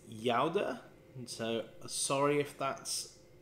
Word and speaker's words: Gouda: forgot this wrong again the proper pronunciation is Yoda and so sorry if